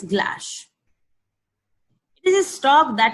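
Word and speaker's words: glace: the good strong stock is a French word it is pronounced s glass it is a stock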